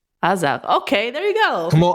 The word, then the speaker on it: Azar: Okay, so how do you pronounce Azar with an Israeli accent? Azar. Azar.